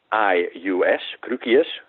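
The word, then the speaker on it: Cruquius: the crooked and that's a difficult name and that's spelled as c-r-u-q-u-i-u-s crookius some dutch guy along that number maybe for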